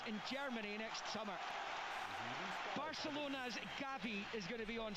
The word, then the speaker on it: Gavi: Javi coming on. Gavi, sorry I pronounced his name wrong.